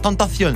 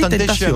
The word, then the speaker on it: XXXTentacion: Il faut dire Tentacion, c'est pas Oui, Temptation en plus. non, ça s'écrit avec un C.